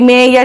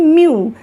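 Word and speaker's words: mu: उसके बाद में आता है म्यू। म्यू, ये देखिए इसका जो प्रोनाउंसिएशन है वो म्यू है, ये बिल्कुल यू के जैसा दिखता है ना, म्यू।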